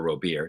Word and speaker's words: Robert: actually he was like it's actually pronounced Robert I believe that's it